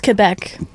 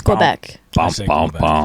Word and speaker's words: Quebec: thought it was ptin I know it's Quebec Bobby says it wrong he says Quebec he says Quebec yeah Quebec I only know